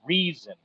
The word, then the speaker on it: Rezin: family lineage there, but it is Rezin, and it is Reason, uh, like reasoning, But anyway, so my great great great aunt was married to Reason Bowie, Jim Bowie's brother.